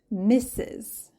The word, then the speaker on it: Mrs: sister mister number two misses misses it kind of sounds like kisses Mrs Miss is the